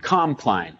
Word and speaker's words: Compline: the name of that uh Compton or comp compline it's spelled c o m p l i and